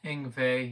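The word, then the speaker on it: Yngwie: sure it's pronounced engve you got it oh yeah cool I've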